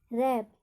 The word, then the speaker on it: wrap: में दूसरा रूल लगेगा, जब WR से स्पेलिंग स्टार्ट हो, वहाँ पर W का उच्चारण नहीं होगा। जैसे एग्जाम्पल, WRAP, इसको हम पढ़ेंगे रैप, लपेटना। रैप का अर्थ होता है लपेटना, तो यहाँ पर WR आ रहा है स्पेलिंग में, तो यहाँ पे W साइलेंट होगा।